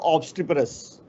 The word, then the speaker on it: obstreperous: When you have I, this is obstri. So this is wrong.